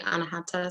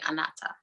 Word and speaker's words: Anahata: am i saying that right yes it's it's pronounced two different ways some people say anahata some people say anata but i i go with both whatever your